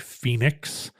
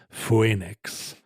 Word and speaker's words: Phoenix: And there are instances where we just separated O and E and left them both in, like Phoenix, but it's pronounced as an E. You don't say Phoenix.